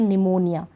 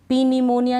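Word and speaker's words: pneumonia: का उच्चारण नहीं होता अब इसको हम पढ़ेंगे निमोनिया पी निमोनिया नहीं पढ़ेंगे निमोनिया अब इसको पढ़ेंगे हम साइकोलॉजी क्या पढ़ेंगे एस से शुरू होगी ये स्पेलिंग लेकिन पी तो लिखा जाएगा पी साइलेंट है इसमें ये आपको ध्यान रखना है पी साइकोलॉजी नहीं पढ़ेंगे साइकोलॉजी और इसको निमोनिया इस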